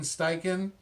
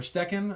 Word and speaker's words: Steichen: interviewed him but uh shane steichen or steccan i think it's pronounced stechen he is currently the